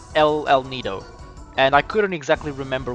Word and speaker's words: El Nido: or more of a l nido but no it it is definitely el nido because it's spanish oh that guy uh